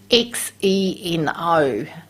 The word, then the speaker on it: xeno: spoken of that before x e n o is how it's spelt but we call it xeno like z-e-e-no so xenoestrogens they mimic